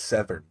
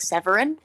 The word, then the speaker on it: Severn: I was gonna be like Severin. You don't have his full name yet. That is his last name. Severn. Severn. It's like you misspelled seven, and then you just went with it.